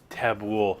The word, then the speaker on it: Tabbouleh: Tabboul. So it's like ghoul.